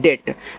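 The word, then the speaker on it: date: अब आपके दिमाग में आ रहा होगा कि सर इ का उच्चारण क्यों नहीं हो रहा है? देखो जब आपको बड़े-बड़े वर्ड दिए जाएं अगर उसके लास्ट में इ है तो इ का उच्चारण नहीं करोगे यहां पे।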